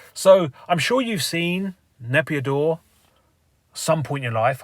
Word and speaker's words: Naypyidaw: So I'm sure you've seen Naypyidaw some point in your life. I'll try and get up some pictures, hang on. Or Naypyidaw is actually the correct way to say it, I think.